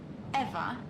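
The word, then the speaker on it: Ewa: don't mind did you say your name was eva yes that's right so you have the same name as the thing could you please not compare me to a lifeless machine besides eva is spelled e w a not e v e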